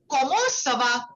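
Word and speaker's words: ça va: Okay, so the pronunciation goes like this. Sava. Okay, so this has to be a little interrogative. Okay, because it's a question.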